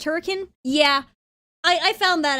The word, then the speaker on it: Hurricane: I had mentioned oh yeah FNAF is in Hurricane Utah and she was like actually it's pronounced hurricane and I'm like excuse me why